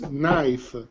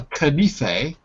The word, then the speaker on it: knife: no another one is knife knife exactly excellent because you don't want to go to a restaurant and ask for a canife you want to ask for a knife looks like kennefe doesn't it knife okay let's take